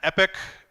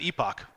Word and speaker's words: epoch: of an epic and an epic am i pronouncing that right I have no idea EPOC there we go there's an epoch I can only think of Tupac now when I say